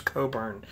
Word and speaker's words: Cockburn: Because I know it's spelled Cockburn, but I've always heard Cockburn is how you pronounce it. Bruce Cockburn.